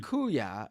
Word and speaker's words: kuya: S as my sister also it's pronounced kuya brother in Tagalog I I said kuya didn't I kuya didn't